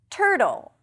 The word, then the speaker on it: turtle: Turtle. You start with a t sound, then it's the as in stir. Tur. Tur. And then a flap t, which is a tricky transition. And I'm saying it objectively. Tur roll. You flip the tongue and you pull it in for the dark L. Roll. Roll. You find it in bottle or Seattle and turtle.